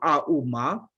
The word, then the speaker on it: Om: And if you go to deeper than that, Om alone is have a 3 syllable, Auma.